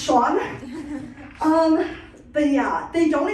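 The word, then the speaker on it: Eoin: name is Cen but they say no it's pronounced Sean or sorry let me get a character s for going in sorry it's pronounced Sean um but yeah they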